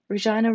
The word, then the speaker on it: Regina: didn't point out that vivian's pronunciation of her name was a long e and i like the canadian city was wrong but settled instead on